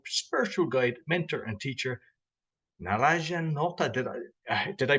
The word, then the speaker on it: Naranjan: I've got a relationship coach, spiritual guide, mentor, and teacher, Naranjan Nota. Did I pronounce the first name correctly? You got it right, Roy. Naranjan, that's right.